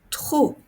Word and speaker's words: trop: me fait mal gros trop regardez ici je ne prononce pas le S et je ne prononce pas le P gros trop vous avez